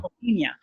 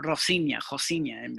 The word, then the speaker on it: Rocinha: Rocinha, yeah, Rocinha, because they don't pronounce the R, Rocinha, Okay.